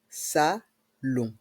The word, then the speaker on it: salon: le salon de jardin dans le mot salon le O et le n Se prononc on salon de jardin et dans